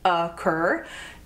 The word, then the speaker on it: occur: five words brands occur occur has two syllables occur and the emphasis is on the second syllable occur occur occur is